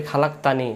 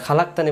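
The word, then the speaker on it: خلقتني: আমরা এটা অনেকে বলি খালাকতানি খালাকতানি এটা খালাকতানি বললে এটাকে উচ্চারণ হয় না এটা হবে খলাক তানি খলাত এখান থেকে আল্লাহুম্মা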